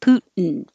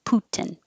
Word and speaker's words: Putin: make the in noise putin or you can really say the t putin i hear news people say it both ways so both are fine americans say it both